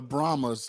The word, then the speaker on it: Brahmas: the Vipers 22-12 huh what are they the brahmas like the Brahma Bull the rock the Brahma oh okay so that's what it's how that's how it's pronounced I didn't watch any